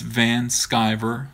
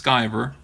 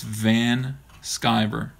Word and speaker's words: Van Sciver: start calling me Ethan Van Sciver and people have enough trouble pronouncing my last name here's the thing it's Van Sciver that's my last name it's two words it's not just skiver it's Van Sciver so